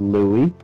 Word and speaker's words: Louis: which is pronounced Louis, not Mhm.